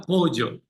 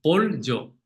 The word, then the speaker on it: pollo: pronunciación, es que piense que hay una L suave Ujú, delante de la Y, delante de la Y. ujú. Entonces, dice como pollo, pollo, ¿Y ¿sabes? cómo suena? Pollo, ¿Lo puedes decir seguido?